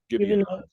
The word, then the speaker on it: Gibeonites: So the Gibeonites, is that the way you pronounce it? Gibeonites, yes.